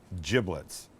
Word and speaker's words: giblets: This is the bag of giblets, and that's how it's pronounced. Not giblets, it's giblets, and in here would be liver, would be gizzard, would be heart.